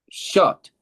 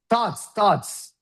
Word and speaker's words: thoughts: No, it's not short. This is short. Short is here. This is thoughts.